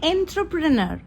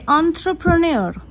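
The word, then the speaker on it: entrepreneur: Next word is, দেখতেই পাচ্ছ কি লিখেছি, এটা অনেকে বলে এন্ট্রপ্রেনার, কিন্তু এটা কারেক্ট প্রোনাউন্সিয়েশন হবে অন্ত্রপ্রেনিয়র।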